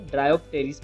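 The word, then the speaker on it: Dryopteris: Terrace में भी P silent है, ड्रायोप्टेरिस में भी पी साइलेंट है।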